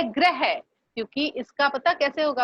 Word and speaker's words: ग्रह: देखो अब एक शब्द है ग्रह, इसका उच्चारण पता कैसे होगा? इसका उच्चारण होगा ग्रह। ग्रह कौन सा ग्रह? वो जैसे 9 ग्रह होते हैं ना, तारे नक्षत्र ये। और इसका उच्चारण कैसे होगा मुझे करके बताओ। इस वाले शब्द का इसका उच्चारण करो, ये कैसे होगा? ग्रह। हाँ ग्रह। ग्रह तो ये है, गृह। गृह है ना।